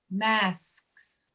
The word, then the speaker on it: masks: Yeah, that is, it's a complicated plural, but it's really not hard. I was actually walking around in a store the other day saying that out loud to myself to see how I was making the sound with my tongue in the roof of my mouth. It's not hard. You just can't rush it.